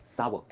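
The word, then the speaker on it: sour: सावर का मतलब होता है खट्टा, और यही है इसकी सही प्रोनाउंसिएशन, सावर एंड नॉट सार।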